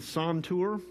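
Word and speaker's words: santur: to our viewers uh this instrument is the son tour it's spelled s-a-n-t-u-r okay it is the forerunner to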